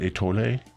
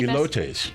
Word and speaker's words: elotes: I don't know how to pronounce this now. The Mexican street corn, is that atole? They do that flavor too. No, what is it? You've completely Elotes.